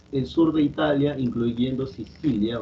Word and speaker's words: Sicilia: Esto que está acá, se pronuncia así, Sicilia, es un nombre italiano. La C en italiano siempre se pronuncia como che.